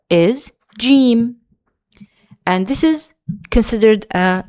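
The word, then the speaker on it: جيم: Our next letter is gimm. And this is considered a light letter and it's pronounced like the uh the the J in for example the word jam.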